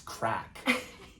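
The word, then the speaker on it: craic: No, because when we hear crack, we think it's spelled C-R-A-C-K.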